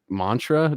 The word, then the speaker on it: Maentra: drummer of cartilage and is it pronounced Mantra just is the E yeah he's silent yeah perfect that's with uh